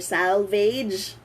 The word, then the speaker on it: salvage: Salvage or salvage.